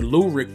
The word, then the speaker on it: Lurik: a rap name but the lurik part is a combination of my middle name and my first name and it sounds like the word lyric so i thought that